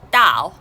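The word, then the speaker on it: 到: the fourth chinese word the fourth chinese word is pronounced dao and it's chinese meaning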